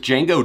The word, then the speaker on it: Django: Chango Jane that's right the D is silent with Django Jane the track is entirely